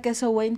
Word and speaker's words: Samhain: la verdad es que hay varias maneras en que se pronuncian lo vamos a escuchar de diferentes formas Pero bueno la más acercada es justo esta queso Wayne que es del gaélico Y bueno pues es